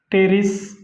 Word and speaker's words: Pteris: पीनी spelling lice टेरोप्सिडा. याचं example आहे, टेरोप्सिडाचं जे एक्झाम्पल आहे ते म्हणजे पेट्रिस आहे, टेरिस, PTERIS.